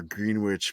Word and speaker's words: Greenwich: They have now taken over Greenwich Meridian Time. Greenwich Mean Time, you mean? Greenwich. The green, right? Mhm. It's in there. They are. They It is the Greenwich. It's not pronounced green.